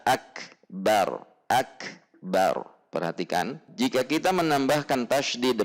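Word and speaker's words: أكبر: Jadi tidak boleh memanjangkan ba pada lafaz akbar. Selanjutnya yang ketiga, tidak boleh mentasydidkan ba pada lafaz akbar. Kita akan lihat bacaan yang seharusnya adalah Allahu kaf sukun, tertahan syiddah, kemudian keluar udara, akbar.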